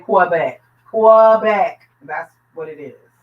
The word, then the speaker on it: Quebec: say queen, they'll say Quebec. It's not quee. It's not like queen. It's ke. Q U E is que. So, we're we're Quebec. I've been saying Quebec.